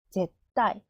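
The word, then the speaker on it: ぜったい: 자으 시 자시 자시 절대는 제을 타이 제따 제따 타 행이 뒤에 오죠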